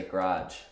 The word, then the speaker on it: garage: this word is that we would put the stress on the first syllable and we would say garage, garage.